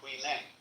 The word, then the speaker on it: Huineng: You see, this guy, Huineng, most people say Huineng. And they've also read a text called the Sutra of W.E. and they say Wai Lang. But this is simply the Cantonese way of pronouncing the same characters, but this is the Mandarin way.